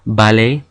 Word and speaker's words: ballet: Words that end in ER or ET are pronounced A, like in jouer or ballet.